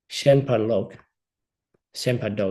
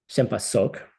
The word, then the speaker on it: shenpa sok: to simply stop believing Shenpa Do, excuse me. I think. Now I'm looking at my pronunciation chart here. Hold on. Shenpa Sok. It's actually more of a sa sound.